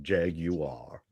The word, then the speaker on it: Jaguar: get you do not get a Jaguar the British pronunciation Jaguar they make me say it